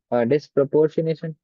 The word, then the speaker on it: Disproportionation: Aldehyde which do not have alpha hydrogen atom undergo self-oxidation and reduction what we call it disproportionation, right? Yes, sir. How do you pronounce it correctly?